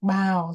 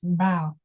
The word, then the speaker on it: bow: greet each other, it's bow. Can you say that again with me? Bow. Bow. That's right. Okay, so remember the same spelling but different pronunciation will mean different things.